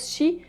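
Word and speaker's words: 四: contraire puisque le chiffre 4 se prononcent si tout comme le mot mort en japonais de ce que j'ai compris c'est de mots ne s'écrivent pas pareil mais la prononciation est la même cette superstition est assez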